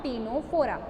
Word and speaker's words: Ctenophora: See, it is written Ctenophora, but the C will be silent and you will pronounce it as a phylum Ctenophora.